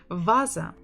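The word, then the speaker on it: ваза: for you in Russia Vasa Vasa Vasa Vasa stress on the first syllable Vasa toeta Diego the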